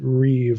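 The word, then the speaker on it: ריב: So, anyway, on on page 37, she gets into the what what this is Hebrew terminology, the reev, that's ri i, but you'd pronounce it reeve like it's ri i v.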